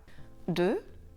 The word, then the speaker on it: deux: DEUX: la lettre X à la fin du mot est muette. Deux.